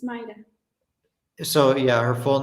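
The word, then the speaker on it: Mayra: your name May it's pronounced m-a-y here is pronounced my yeah yeah but it's Mida so yeah her full name is m-a-y-r-a back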